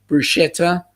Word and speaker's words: bruschetta: he tells others that the k sound belongs in bruschetta there's not a shirt in the beautiful italian word yup i i wouldn't even pronounce it with a k there either to be quite honest papa um for me that's uh that whole sch is definitely a shi sound um rob you you